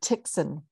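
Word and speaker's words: Tychson: like it's t-y-s-k josephine tickson it rhymes with dixon dixon thank you thank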